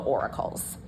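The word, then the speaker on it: auricle: of like Flappy bits these are called the oracles um and that's spelled Au um where is it Au r i c l e not Oracle like um the Oracle of Deli if you guys know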